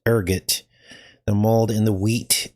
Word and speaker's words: ergot: bloods, the mold, the ergot. I guess it's pronounced, I thought it was ergo, but it's ergot.